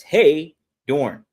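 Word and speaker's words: Heydorn: That's Hey Dorne. So like, hey H E Y D O R N.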